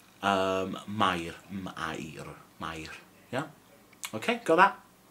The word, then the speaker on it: Mair: Mair, Mair.